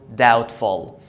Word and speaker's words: doubtful: The B is followed by T, so don't pronounce it. Doubt or doubtful.